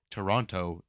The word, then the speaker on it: Toronto: there you're saying how you grew up it's Toronto oh It's My World Views being changed live